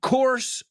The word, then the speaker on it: coarse: I took a course on pronunciation, and they told me that the word course, English course, and coarse salt are pronounced the same, and that's because they are.